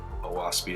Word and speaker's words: Oahspe: Heavenly history lower books contain contemporaneous Earth history oasi is pronounced o as in oock a as in FA and SP as